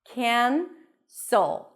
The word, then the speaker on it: cancel: It's technically a, but before an n, it's smooshier. Cancel. A s sound and a dark L. Remember the dark L that we talked about? So, cancel, cancel.